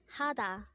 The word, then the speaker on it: 하다: HADA.